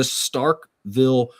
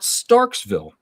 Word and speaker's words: Starkville: All right, the Starkville Regional, not Starksville. There's a lot of people out there that mispronounce that, but it's Starkville Regional.